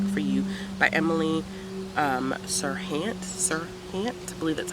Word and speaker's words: Serhant: moon and back for you by emily Serhant sir really that's how you say her name and